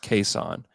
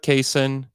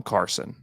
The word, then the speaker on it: Cason: supposed to be pronounced caisson he's fine with casein just don't call him Carson right because uh there's no R in his name correct here's what here's